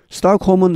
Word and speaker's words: Stockholm: 자, 이 발음 조금 조심하시기 바랍니다. 우리말은 스톡홀름이죠. 영어에서는 이 L이 묵음입니다. 스톡홈 이렇게 합니다. 그냥 스톡홈. M 앞에 나온 L이 거의 묵음이죠. 뭐 calm, C-A-L-M, 고요한, 평온한 이렇게 할 때 묵음이죠.